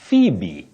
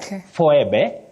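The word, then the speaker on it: Phoebe: that we also have the name phbe phbe not fbe not F and all that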